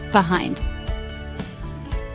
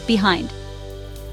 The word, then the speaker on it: behind: Behind. 2 syllables. Stress on second syllable. Behind.